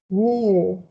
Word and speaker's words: near: but for this case you have to say near near okay near just me with e near with the letter i in spanish um the other one